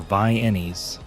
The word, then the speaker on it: Viennies: Canned Vienna sausages, or Viennies, as oil field workers pronounce them, pulled straight from the can and eaten on saltine crackers.